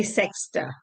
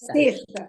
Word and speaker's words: sexta: cannot be sexta. No. It is Seshta. It's pronounced as Seshta.